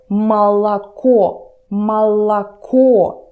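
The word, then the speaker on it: молоко: or more or but pay attention to how I pronounce this word mala mala core so when you speak there is only one clear and distinct or others turn to the sound like this this is something between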